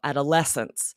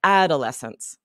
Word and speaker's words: adolescence: syllable that's emphasized is that es in the middle, adolescence. Okay. And when reading, they said adolescence, adolescence, with Ah, the emphasis on interesting.